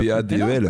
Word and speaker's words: padel: Bah, ça s'écrit... Comment on pourrait le dire ? P-A-D-E-L.